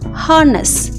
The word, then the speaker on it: harness: The horse was shaking its head, ringing the bell attached to its harness. H-A-R-N-E-S-S. R is silent, so harness.